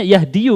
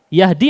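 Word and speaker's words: يهدي: Antum bacanya yahdiyu berarti? Bukan. Katanya fi'il mudhari kalau rafa pakai dhammah. Di situ apa? Yahdi atau yahdiyu? Yahdi.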